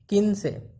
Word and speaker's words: quince: 15 किनसे, किनसे। Okay, spelling Q से स्टार्ट होगा, QUINCE, किनसे।